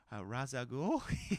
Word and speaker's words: Ra's al Ghul: yeah and I was like well you crazy Ra's al Ghul he was like very good you pronounce that correctly so then he talked about